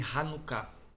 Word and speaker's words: Hanukkah: Toda vez que você vê uma palavra hebraica que foi latinizada e tá CH, você lê Ha. Não é chá. É um cultural, né? É. Hanukkah é Hanukkah.